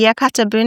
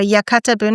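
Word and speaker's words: yakatabune: A yakata bun.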